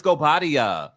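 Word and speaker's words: Guobadia: I was like, girl, it's Gobadia.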